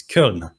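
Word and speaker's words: Köln: germany in colonia or if i have to pronounce it the german way it is kiln i hope i'm pronouncing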